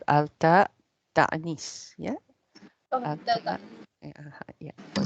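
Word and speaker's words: تأنيث: So this is what we call alta ta'nis. Yeah. Oh, Alta. Yeah. For this case, we call it ta'nis.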